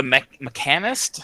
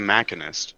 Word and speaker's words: Machinist: Oh, the mechanist? I don't know. I don't see a mechanist being the next tier job to me. Sorry, Scuro. Why are you pronouncing it that way? It's the Machinist.